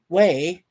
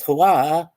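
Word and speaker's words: Huế: She also mispronounces uh she pronounces it as Hua or Hua rather than we which is the way it's supposed to be. Uh despite making a point that it is pronounced differently to how it is spelled, right?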